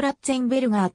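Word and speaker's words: Ratzenberger: れていたドイツ語ではローランとラッツェンベルガーと発音する 5 歳のとき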